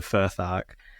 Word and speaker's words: Futhark: So, it's saying Elder Futhark. Which Am I pronouncing that right, Will? You Futhark.